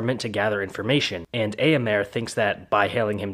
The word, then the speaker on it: Éomer: Also, you pronounced Éomer as Éomer.